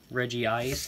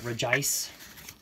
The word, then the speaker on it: Regice: getting a little reverse holo clay doll in Reggie ice not regice as I have never heard it pronounced that way with word and I don't